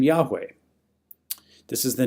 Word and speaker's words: Yahweh: It's Yahweh through a Latinized version that we get also the name Jehovah, although that's really not the right way to say it.